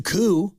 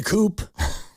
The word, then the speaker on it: coup: a government it's a coup it's not a coupe so it could be a coup on if the P is silent in coupe why or